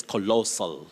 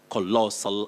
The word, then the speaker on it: colossal: say colossal amount yes colossal you have the stress on the second syllable you say core then lossl colossal amount of money and